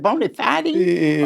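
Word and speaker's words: bona fide: Is it bonafidey or bonafide? Yeah. I think it's both.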